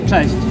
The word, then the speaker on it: Cześć: Cześć. Am I pronouncing it right?